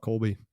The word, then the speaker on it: Kolbe: I learned a lot I'd spend time with Colby every day and I feel like you know